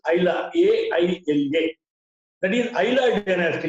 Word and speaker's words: Aila: other areas, geographical areas, they could not pronounce the term Ila. They started pronouncing this Aila, A-I-L-A.